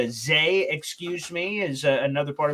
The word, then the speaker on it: Za: His full name is Zaquan Frazier, but he goes by the nickname Za. It's pronounced Zay, excuse me, is another part of his name as well that he's has coming in here.